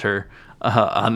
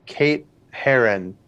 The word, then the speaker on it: Herron: I don't know if I'm saying her last name right. It's Kate Herron. It's spelled Herron. Kate Herron. Kate Herron. Heron. Sorry. I would assume Heron because that's how the bird is spelled, or pronounced.